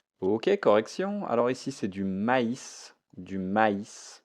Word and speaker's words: maïs: correction alors ici c'est du maïs du maïs attention ici ce i je le prononce i donc je ne vais pas dire du mais du maïs de to dot de